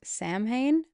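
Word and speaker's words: Samhain: Sam Hayne. It's spelled S A M H A I N.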